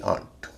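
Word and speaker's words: aunt: ए यू का आ उच्चारण दो शब्दों में होता है। एक है एल ए यू जी H laugh और दूसरा है ए यू एन टी आंट। इसे लॉफ या ऑट नहीं कहेंगे। ए यू का ए उच्चारण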